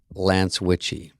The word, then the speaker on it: Lance Witchie: His name is Lance Witchie, pronounced like witchy woman.